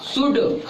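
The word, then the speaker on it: should: शुड क्या है? शुड शुड इसको इसलिए पढ़ेंगे इसमें एल साइलेंट रहता है तो एल का उच्चारण नहीं होगा।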